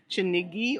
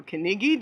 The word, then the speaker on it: Kinigi: I am the managing director of Villa Gorilla in Chinigi or Kinigi, depending on how you pronounce it, Musanze, in the beautiful foothills of the Virunga Mountains on a spectacular property.